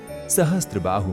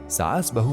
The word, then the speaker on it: सहस्त्रबाहु: लोगों के सही उच्चारण नहीं कर पाने की वजह से सहस्त्रबाहु मंदिर सासबहु मंदिर के नाम से प्रसिद्ध हो गया।